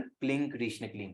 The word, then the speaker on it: क्लीं कृष्ण क्लीं: ऐसा बोला है कि इस मंत्र का उच्चारण क्लीं कृष्ण क्लीं है।